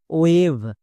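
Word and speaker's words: wave: একই রকম ভাবে দেখো ওয়েভ, এখানেও ডব্লিউ এ আছে এবং ওয়ার্ডটির শেষে সাইলেন্ট ই আছে। এর মানে কি? এর মানে হচ্ছে ডব্লিউ এ এর জন্য আমি এখানে ও এ সাউন্ড করব, কারণ শব্দের শেষে সাইলেন্ট ই আছে, তাই এর জন্য ও এ সাউন্ড করে দাও। এবার ভি, ভি এর জন্য ভো এবং শেষের ই সাইলেন্ট, তাহলে কি দাঁড়ালো উচ্চারণ? ওয়েভ, ডব্লিউ এ ভি ই, ওয়েভ।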